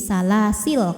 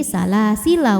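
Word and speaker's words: سَلَاسِلَا: Lam fathah kalau berhenti jadi sukun, jadi salasil kalau berhenti. Kalau tidak berhenti salasila wa aghlalau gitu.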